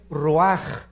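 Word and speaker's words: רוח: hebreo es nepe y la palabra espíritu es ruaj se escribe ruach entonces vemos aquí dos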